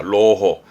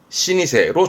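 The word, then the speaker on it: 老舗: 발음은요. 로호합니다. 로호. 그러다가 요거는 로호 말고 이거를 기억해 두게요. 신이세로 주로 쓰여집니다.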